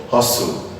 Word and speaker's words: hustle: Belle is called pestle hu stlp is called hustle wre SDLP is called wrestle